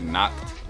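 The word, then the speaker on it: Nacht: I say it like knocked, like, because it reminds me of like licked. So I just say like the opposite, knocked. Knocked.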